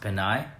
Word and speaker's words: Pinay: I think it's ironic that that's like your friend, but that her whole screen name, K20, that last word is actually pronounced Pinay.